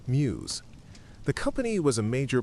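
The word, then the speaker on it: Meux: The brewery's name MW is pronounced muse.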